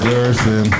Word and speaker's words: Gerson: Gerson. Rhymes with person.